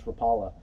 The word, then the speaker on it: Rapala: In this case, this Rapala, or Rapala, depending on how you say it, is going to want to reach depths of about 4 to 6 feet.